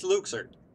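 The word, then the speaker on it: Luxord: is who are you Luke sued it is Luke surd and that's three times they've pronounced it edit is Luke sir I'm sorry it sounds weird - but okay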